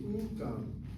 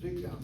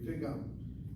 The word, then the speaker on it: וגם: If so, then it should be ugam, but she read it correctly as vigam. הוא גם No. You read it correctly, vigam lomed.